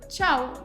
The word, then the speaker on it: Tchau: Bon, alors pour conclure cette vidéo, comment est-ce que tu dis au revoir, salut, Ciao. ciao? Ah oui, comme en italien.